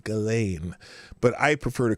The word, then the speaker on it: Ghislaine: Well, Ghislaine Maxwell.